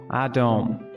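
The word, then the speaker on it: אדום: red in hebrew looks like this and it's pronounced adom while blood looks like this and it's pronounced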